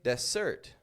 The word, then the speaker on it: dessert: This is because there are lots of words in English where the S sounds like a Z. Or you could also say a Z if you're in the States, they say Z. Whereas where I'm from, we say Z because I'm from Canada. Anyway, your S's sound like Z's.